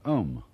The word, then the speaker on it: om: course the sound om that sound is used because if you spell it out a u m it runs from the back of your throat to your lips and therefore it contains the whole range of The Voice and for that reason